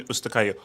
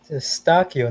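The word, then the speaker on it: Eustáquio: Shout out Shane, Wayne Gretzky, Howard Shaw, Steven Ustakayo. Oh, Howard Shaw is Canadian? Eustachio, not Ustakayo.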